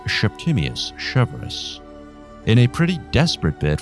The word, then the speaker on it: Septimius Severus: his Punic accent, and it's been suggested that he pronounced his name, not unlike Sean Connery, as Septimius Severus.